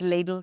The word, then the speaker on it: Lidl: It's ladle cuz the team have told me.